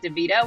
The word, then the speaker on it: DeVito: is at Doritos on account of Doritos rhymes with DeVito which is my actual name um I have nothing